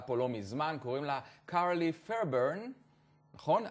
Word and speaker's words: Carlie Fairburn: אוסטרלית, מדהימה שנחתה פה לא מזמן, קוראים לה קארלי פיירברן, נכון? I said it right? You did. With the accent, קארלי פיירברן.